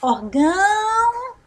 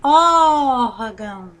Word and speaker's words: órgão: tempo nós vamos falar orgão ou nós vamos falar órgão observe que nós estamos órgão mais tempo então essa palavra é a sílaba tônica dela é ó então é uma palavra paroxítona o mesmo se dá